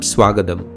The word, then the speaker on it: swagatam: Previously we saw the word written as ninchittu gets pronounced as ninjittu, and words like swagatam become swagadam. Therefore, just like Tamil, there